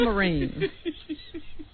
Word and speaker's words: Marin: Carol Marin or Marine as Rob. I saw a pronunciation guide that said it was Marin.